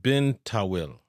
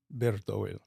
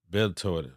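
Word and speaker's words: Bir Tawil: So let's talk about let me pronounce this right, Bin Tawil. Bertowil. Bertowil. Yes.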